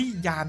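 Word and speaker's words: Jann: หนุ่ม ที่ ชื่อ ว่า ยาน มาเรมเบอรัล ครับ ขึ้น ต้น ด้วย ตัว j แต่ ดัน อ่าน ว่า ยาม จำ กัน ไม่ ค่อย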